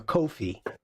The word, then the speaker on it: Ko-fi: Sandrine, you're putting how to sell rhymes with no fees or Ko-Fi. That's coffee.